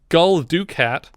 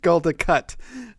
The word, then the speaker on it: Gul Dukat: He's Lopez in Tango and Cash, and he's Gul Dukat in Deep Space Nine. Am I pronouncing that correctly? No, you are not. I just said it as wrong as possible to watch Richard shudder. Gul Dukat.